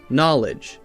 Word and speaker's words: knowledge: Now we have a silent K, so we don't say kana, we say n, no. Knowledge, knave, knives, we say just n.